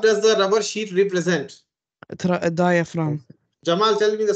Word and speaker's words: diaphragm: the rubber sheet represent diaphragm Jamal tell me the spelling GM oh he already saw it long time back yes d i a p h r a g m the g is silent it's just written otherwise